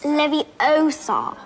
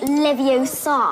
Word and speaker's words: Leviosa: the best in school he was saying it wrong it's Leviosa not Leviosa ended up getting the